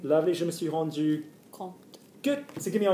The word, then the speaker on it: compte: Compte. We pronounce it compte because there's an e on the end.